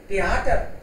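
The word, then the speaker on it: Theater: थिएटर होता है दास थिएटर. दास दास थिएटर कई बोलेंगे इसको, एच साइलेंट रहता है बीच में.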